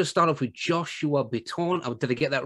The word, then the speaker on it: Bitton: I just want to start off with Joshua Bitton. Oh, did I get that right, Gibson? Because you're continually alphaing me about the way I pronounce things. You made it fancier than we say here. Bitton.